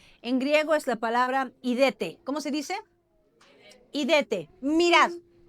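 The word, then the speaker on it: ἴδετε: En griego es la palabra idete.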